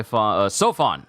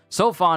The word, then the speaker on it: Seofon: have known better I should have heard what it sounded like in Japanese that's on me next okay say sofon sorry it's habit now sofon assembled 10 of the